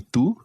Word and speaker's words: tú: ¿Y tú? ¿Y tú? ¿Y tú? ¿Y tú? That's it. Now what's your pronunciation of the Spanish u, ¿y tú?